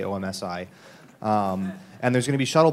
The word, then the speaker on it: OMSI: you're not from Portland you should learn that it's pronounced Tom Z I get funny looks when I say OMSI and there's gonna be